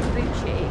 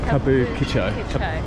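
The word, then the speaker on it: 歌舞伎町: It's not Kabuchi. Kabukicho. Kabuchiko. I think Kabuchi is the drink.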